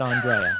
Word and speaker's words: Andrea: And Andrea, now it's spelled, as we've discussed before, it's spelled Andrea, but it's pronounced Andrea, right?